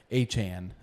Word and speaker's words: Achane: A-Chan is how he likes his last name to be pronounced.